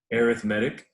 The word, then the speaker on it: arithmetic: i know it's print it's spelled the same as arithmetic but that is not how you say this word not in this context anyway arithmetic and this is what